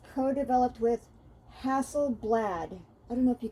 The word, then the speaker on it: Hasselblad: And it says co-developed with Hasselblad.